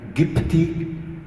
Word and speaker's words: Copts: You know that the word Copts, to say Christians of Egypt, is pronounced in Arabic Gipti, which comes from Egypti, Egyptians.